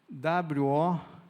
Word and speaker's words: woke: W-O-K-E. Como que pronuncia isso, Meire?